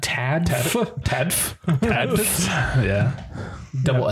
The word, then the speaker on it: TADFF: And or how do you pronounce TADFF? TADFF.